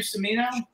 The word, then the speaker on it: Cimino: So let's just, you have a cousin, Michael Cimino. Is that how you pronounce his name? Cimino? Cimino. Cimino.